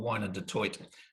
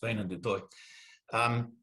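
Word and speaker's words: Wynand du Toit: I wrote the book thinking he was called Wine du Toit, and then just for this thing, I thought I'd better find out how he actually pronounced his name, and it's Wayne du Toit.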